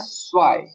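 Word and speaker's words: zwei: बाद आ जाता है स्वाय स्वाई इसे जय मत पढ़ना ये हो जाएगा स्वाय ये हो जाएगा जय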